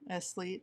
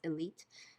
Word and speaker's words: Eslite: about a lot called Esleet. Esleet. It's actually pronounced elite, I think. Oh. So, but they didn't say the S, but I'm just gonna say Esleet because it's how you spell it, Eslite.